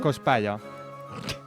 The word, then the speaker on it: Cospaia: Cospalla. És un nom italià, vull dir, no té cap mena de pronúncia estranya.